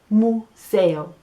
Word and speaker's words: museo: last thing that we're gonna find is el museo again la pronunciacion en inglés it's a "yoo" and en